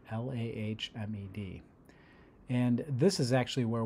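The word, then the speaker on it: למד: And I guess it's pronounced Lamed, Lahmed.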